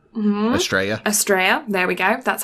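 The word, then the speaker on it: Astrea: So then episode 20 is Wilhelm von Asteria. Mm-hmm. Estrella.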